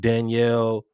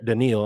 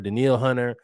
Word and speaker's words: Danielle: You have Danielle uh Hunter. Denil, I'm sorry. Denil Hunter.